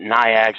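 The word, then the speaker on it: NAICS: an ax code or Naik's code however you want to pronounce that nigh ax is pronounced all kinds of different ways you don't have to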